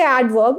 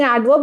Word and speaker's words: adverb: yeah you might say adverb instead of saying adverb you might say adverb with a w interviewer so I had a teacher who said bite your wis and kiss your W's.